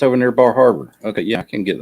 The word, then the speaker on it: Bar Harbor: Bar Harbor is not too far away. Excuse me, Bahaba.